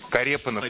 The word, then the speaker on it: Карепанов: Карепанов, правильно. Потому что я бы сказал, как-нибудь Карепанов. Карепанов, да, правильно произносить? Правильно.